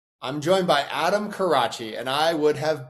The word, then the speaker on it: Carace: Karach. I'm joined by Adam Karach. And I would have butchered that.